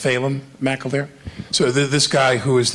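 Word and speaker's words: Phelim McAleer: did Frac Nation fail it's pronounced phalem mcilver so this guy who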